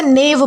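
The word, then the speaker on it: knave: दोस्तों इसमें जो है वो के साइलेंट है। तो इसलिए हम जो है वो इसे नेव पढ़ेंगे।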